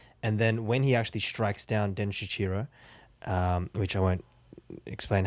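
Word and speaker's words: Denshichiro: So I'm pretty sure it's Den Shichiro.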